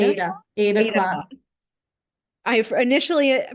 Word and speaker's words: Aida: It's cotton floss on cotton Ida Ada Ada cloth. cloth. I initially pronounced it's spelled Aida, and I and I had seen the show Aida, so and Tanya corrected me.